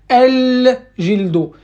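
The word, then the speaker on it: الجلد: L'essentiel, l'essentiel, c'est que vous devez faire apparaître le lam dans votre phonétique. C'est-à-dire comme quoi, vous avez compris que le lam, il doit rester en fait, il doit être maintenu dans la prononciation. Je dois toujours dire el babro, el jildo, el halo, el khalo.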